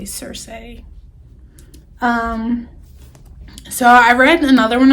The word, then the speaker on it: Circe: This is the one I said that was thicker than I knew, but Cersei by Madeline Miller, and I believe that's pronounced correctly, Cersei.